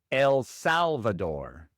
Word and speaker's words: El Salvador: Después tenemos El Salvador. En inglés El Salvador. El Salvador. Igual el acento va en la primera sílaba en Salvador y la r inglesa y no española.